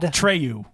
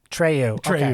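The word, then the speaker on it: Treilhou: okay so if you had my accent how would you pronounce it what tryu Trey great so until next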